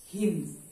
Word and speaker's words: हिंद: याद रखिएगा, स का उच्चारण ह में और ध का उच्चारण द में। तो क्या हुआ भाई, अब इस तरीके से वे क्या बोले? हिंद। क्या बोल दिए? हिंद। यानी स को ह और ध को द।